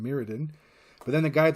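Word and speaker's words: Mirrodin: hell is this well I call it marodin because that sounds way cooler than meridin but then the guy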